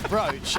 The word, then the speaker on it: brooch: Brooch or Broach? Because I've been hearing everybody saying it wrong lately. It is Broach, and I always say Broach.